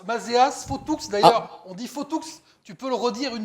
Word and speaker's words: Fauthoux: Nicolas Nicolas Bou ou sur le Sud-Ouest on prononce Maas fou d'ailleurs on dit faotou tu peux le redire une nouvelle fois le